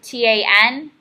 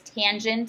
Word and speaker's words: tangent: the hypotenuse is five tangent T a n so don't just say tan it is tangent of theta is the